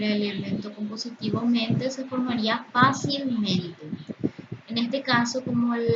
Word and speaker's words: fácilmente: el elemento compositivo mente son palabras que tienen dos sílabas tónicas. Primero, en la que serían en el adjetivo fácil de fa y en las últimas sílabas de mente.